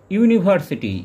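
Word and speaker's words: university: ইউনিভার্সিটি, ইউনিভার্সিটির ক্ষেত্রে you vowel letter দিয়ে যদিও শুরু হচ্ছে কিন্তু এর উচ্চারণ আমরা পাচ্ছি ইউ, অর্থাৎ এখানে কনসোনেন্ট সাউন্ড আমরা প্রথমে পাচ্ছি, সেজন্য এর আগে বসবে এ।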